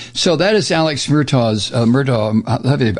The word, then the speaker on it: Murdaugh: So that is Alex Murdaugh's, Murdaugh, I guess it's Murdaugh is the way they pronounce it.